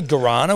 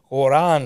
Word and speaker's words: guarana: that like you know guarana which is in like energy drinks and I heard someone pronounce that as like Quran yeah or something and I